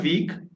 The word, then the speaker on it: week: Yes, I am practicing on Cambly from last 1 week. Mhm. Yeah, Okay. We say, be careful the pronunciation of what week. Okay. 1 week. Huh. It's Week. not week, but Week. week.